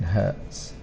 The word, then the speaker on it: hertz: is measured in hertz now for Hertz it's it's exactly the same pronunciation of Hertz like for pain but the spelling is very different because it's not an English word it's a German word so it's h-e-r for her and is t z so it's a